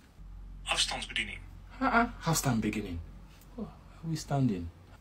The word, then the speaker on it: afstandsbediening: simple words that are hard to pronounce in Dutch. So to say remote control is afstandsbediening. Afstandsbediening.